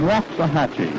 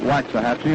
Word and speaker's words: Waxahachie: behind the catcher paul richards richards comes from waxahachie he tells me that's the way to pronounce it down in texas we've been calling it waxahachie and we apologize now to every citizen of